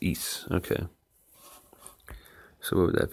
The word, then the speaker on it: Isa: as a deed oh it's not ice it's eise okay so what would